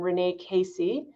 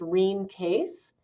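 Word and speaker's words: Rene Caisse: it was formulated by this Canadian nurse named Renee Casey, or her name was actually pronounced Reen Case.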